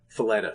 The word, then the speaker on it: Faletta: We have Marco Falea, the guy that owns Gotham City Pizza. Faletta, sorry, I keep pronouncing his name wrong.